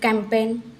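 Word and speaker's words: campaign: पहले जी आया है कैंपेन में इसका हम ग ऐसा उच्चारण नहीं करते हैं सिर्फ कैंपेन ऐसे बोलते हैं रिजाइन रिजाइन में भी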